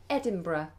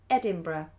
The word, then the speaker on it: Edinburgh: so do look out for that can you pronounce the word the tap the city rather in Scotland Edinburgh Edinburgh Edinburgh um the difference between England and Britain